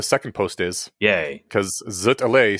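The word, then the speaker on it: zut alors: post is yay because zut Al sounds much closer to Z Alor than something where you pronounce the s what's zut alore you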